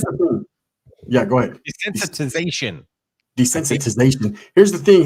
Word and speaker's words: desensitization: ] that here's the thing yeah go ahead desensitization desensitization here's the thing H if you haven't